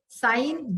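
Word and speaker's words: sign: साइन, जी साइलेंट.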